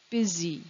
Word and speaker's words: busy: the first syllable busy what's odd about the word busy is that the u sounds like an e it doesn't sound like a u the next interesting word